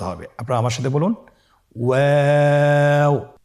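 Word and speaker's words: واو: আপনারা আমার সাথে বলুন ওয়াও ওয়াও। 2 ঠোঁট গোল করে মাঝখানে ফাঁক রেখে হরফটি উচ্চারণ করতে হবে। আপনারা আমার সাথে বলুন ওয়াও।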